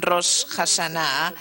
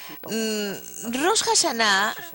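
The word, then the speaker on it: Rosh Hashanah: los judíos por el rosh hasan rosh shaná está mejor pronunciado es lo que los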